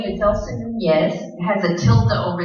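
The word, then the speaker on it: Núñez: It's Nunez. It's like a Y when you have the tilde over the name.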